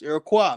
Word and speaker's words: Iroquois: Like when I hear people say Iroquois, I'm like, damn, you ain't even made it past that step yet. It's Iroquois, man.